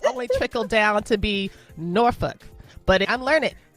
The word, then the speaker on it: Norfolk: Miasa Osbey, is in we call it the Norfolk Tidewater region of the state.